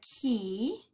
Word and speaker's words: key: does the talking, well, in the word key, Y is considered a vowel. And so when we code it, we underline it. It's vowel digraph, E-Y, E-E-E, because the Y is silent.